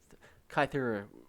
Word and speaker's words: Kythera: name of the place you could theorize kythera or scythe era right so kythera would be the greek more greek pronunciation comes from kaiklo or